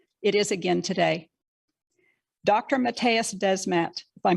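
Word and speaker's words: Mattias Desmet: precursor for totalitarianism it is again today dr matthias desmet by pronouncing his name correctly the professor at gantt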